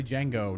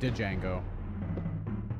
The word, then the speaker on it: Django: Boktai 2, Solar Boy Django. Nope. Thank goodness for that movie, because I never know how to pronounce that. I would keep saying Django. But it's Django.